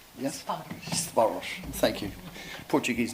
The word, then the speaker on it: Sparos: what about you know got to get the pronunciation right Sparos. Yes, Sparos.